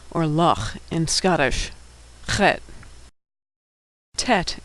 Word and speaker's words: Tet: Tet is pronounced T as in tango. Tet.